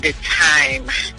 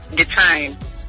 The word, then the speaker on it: Dytmi: It really is difficult for me to pronounce. Can you help me with it? Okay, the name is called Dytmi. Say that again. Dytmi. Dytmi.